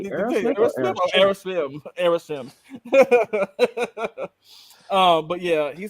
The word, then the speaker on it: Aerosmith: Yeah, I said it right that time. Aerosmith. See, you keep trying to say Smith. You're like Aerosmith.